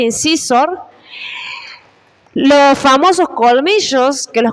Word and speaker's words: incisor: Los de adelante son los incisivos, que en inglés se escribe así y se pronuncia incisor.